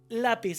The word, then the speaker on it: lápiz: La palabra lápiz.